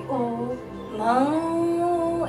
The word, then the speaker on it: ओम: आपको ओ को लंबा ले जाना है और म को थोड़ा सा शॉर्ट रखना है।